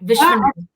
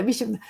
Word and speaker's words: Viswanath: doctor, you will make me how you pronounce your last name, doctor? Oh, you said it right. Vishwanath. Yeah. Okay, Vishwanath.